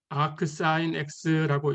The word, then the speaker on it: arcsin: arc sin x라고 읽을 거고 이것은 sin x분의 1하고는 전혀 다른 값입니다.